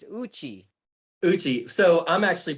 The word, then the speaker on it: Uchi: it incorrectly I say yuchi it's Uchi Uchi so I'm actually pronouncing it like an English way the Japanese pronunciation is Uchi okay and there's a